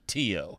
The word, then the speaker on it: tio: to install a program called too spelled like uncle in Spanish that stands for terminal